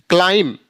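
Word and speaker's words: climb: कह रहा है कि जब भी एम के बाद बी होता है तो उसका उच्चारण नहीं होता है यदि बी बीच में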